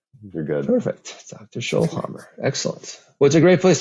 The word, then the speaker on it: Schoellhammer: you don't mind yeah schollhammer it's like Dr scholes at a hammer you're good perfect Dr schol Hammer excellent what's a great